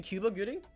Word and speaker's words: Cuba Gooding: I mean yeah I mean it's it's actually Cuba Gooding wow am I I have to you know